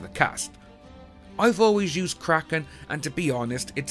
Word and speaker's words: Kraken: The word is actually pronounced Kraken, but when McNally initially said the creature's name, he pronounced it Kraken, which caught on with the rest of the cast.